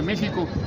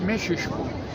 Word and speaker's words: México: No se dice México, es Mexisco.